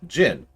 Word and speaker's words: jinn: shall this be done I usually hear jyn pronounced Jinn but if you hear genie that's actually a separate thing comment last two onto